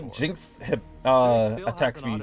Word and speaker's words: Zeri: Zeri, okay, that's how you say it.